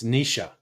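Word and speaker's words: Naoise: Naois. It's Nisha.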